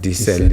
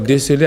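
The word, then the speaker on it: déceler: et précédé de e le E là ne ne se lit pas e donc on va pas dire dcell et euh même si il le second qui renvoie la notion de sel est parfois prononcé de sell pour faire la différence avec le premier alors dcelé avec D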